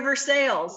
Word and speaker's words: Versailles: have it's near versailles right it is near versailles yes you pronounced it correctly it's not beer slime so